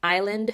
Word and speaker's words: island: because of silent letters the s in island is silent there's different people who